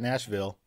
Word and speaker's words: Nashville: different pronunciations of it the way I always tell people is that you have to say it like you have a mouthful of marbles seriously yeah and people